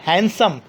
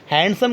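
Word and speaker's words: handsome: हैंडसम, हैंडसम कभी भी नहीं होता है, बहुत बोलते हैं I have हैंडसम salary, हैंडसम नहीं होता है, हैंडसम, डी यहाँ पर साइलेंट होता हो, यू are very हैंडसम, हैंडसम हो नहीं होता, हैंडसम होता है।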